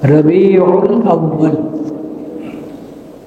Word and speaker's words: রবিউল আউয়াল: চান্দ্র মাস 12টি, এই 12 মাসের মধ্যে একটি মাস হলো রজব, মুহররম, সফর, রবিউল আউয়াল, আরবি উচ্চারণটা রবিউল আউয়াল।